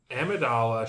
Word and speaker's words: Amidala: It's Amidala, All right.